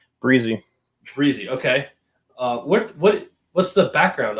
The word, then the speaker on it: Brizzee: So, Mike, first of all, it's pronounced Brizzee. Is that correct? Brizzee.